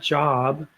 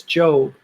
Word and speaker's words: Job: or job you know the book of Job is not job it's joe even in Spanish it's